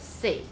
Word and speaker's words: 细: tiny or small, and in Taiwanese Southern Min, the pronunciation is sei.